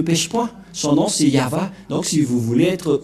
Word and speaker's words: Yahvah: Voilà le nom de Yahva prononcé par le grand-père Moshe, Ya, Yahva.